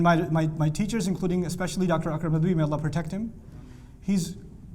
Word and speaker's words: Akram Nadwi: Akram Nadwi.